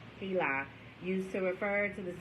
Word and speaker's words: HeLa: The word Heli, capital H, lowercase e, capital L, lowercase a, Heli, used to refer to the cells grown from Henrietta Lax's cervix, occurs throughout the book. It is pronounced Heli, H-E-E-L-A-H, in case I was having trouble pronouncing that or didn't know that.